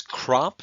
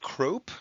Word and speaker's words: crop: get their own line it's crop not crope that's a short o so it gets abrev